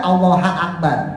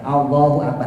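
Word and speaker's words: اللهُ أكبر: Enggak mungkin orang baca allaha Akbar kan enggak mungkin atau Allahi Akbar enggak mungkin pasti kita baca Allahu Diah nih ya Allahu akbar Karena domah itu adalah salah satu tanda raofnya mubtada begitu pula khabar khabar itu juga harus dirofa dalam tandanya adalah domma Lah kenapa ini kan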